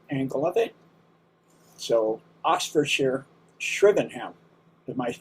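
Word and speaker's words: Shrivenham: So, Oxfordshire shrven. Am I pronouncing that one right? Sh. We say shvenm.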